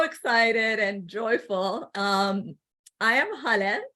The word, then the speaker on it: Haleh: I am Haleh. The way it's pronounced is Haleh, like hallelujah.